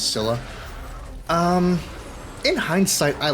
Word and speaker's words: Scylla: So in hindsight, I like the Scylla, or the Scylla. I think Gaia pronounces it as the Scylla. Not to spoil too much about, our trusty narrator, but the narrator pronounces it as Scylla.